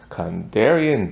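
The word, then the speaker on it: Kandarian: has to come oh it's gonna be hard condarion dagger that's how you say it and um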